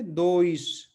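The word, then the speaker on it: dois: दूसरा है जो कॉम्बिनेशन काफी इस्तेमाल होता है ओ और आई का, तो दोनों मिलकर क्या बन जाते हैं, ओई। ठीक है, तो इसको हम ये क्या पढ़ेंगे, दोइश। ठीक है, दोइश।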